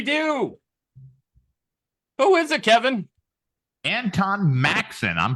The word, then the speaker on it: Antone: Antone. No I. Oh, there you go. Antone Maxson. See, I knew I shouldn't have pronounced the name.